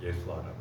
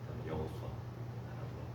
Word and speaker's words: 여호수아: 그 축약해서 부르면 요사닥 그리고 예수아라고 할 수 있는 것이고요. 제대로 발음하면 여호사닥, 여호수아라고 할 수 있습니다.